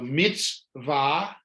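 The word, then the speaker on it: מצוה: mean good deed so mitzvah again the so you don't have to pronounce the shiva at all it did its job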